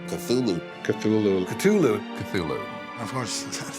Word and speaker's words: Cthulhu: There lay great Cthulhu and his hordes, hidden in green slimy vaults,